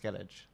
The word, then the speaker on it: Skellige: It's actually pronounced Skellige.